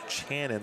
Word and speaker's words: Channon: It's actually pronounced Channon, like C-H, or Shannon, except for the C-H instead.